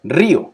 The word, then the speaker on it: río: Y río, como el río grande, ¿no? Río, el río, ¿ya? Son río, dos sílabas.